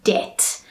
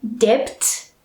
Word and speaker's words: debt: one of those words a word that has a silent letter in it in other words a letter that we do not pronounce and the word is debt all right so we